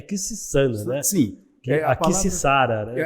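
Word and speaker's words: Quisisana: Porque muita gente fala Quixizana, né? Sim. Mas se eu estiver errado, você, por favor, me corrija. Mas o nome, a pronúncia correta é Quixissana, né?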